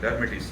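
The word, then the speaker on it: Lhermitte: पढ़े लिखे बंदे हो सारे यार, उधर अजीब अजीब वो लाइन, ठीक है, साइलेंट है बीच में से, लर्मेटिस साइन, ठीक है।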